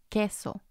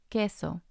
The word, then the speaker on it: queso: When there's the QUE combination, as in queso, queso, the U doesn't sound.